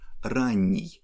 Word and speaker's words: ранний: The last example is adjective ранний, that means early. You see that here we don't have stress at the end, and we pronounce n in soft way.